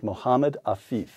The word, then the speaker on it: Mohammed Afif: Quote, Hezbollah learned to send journalists like me, Michael Totten, to men like Mohammed Afif. Did I pronounce that correctly?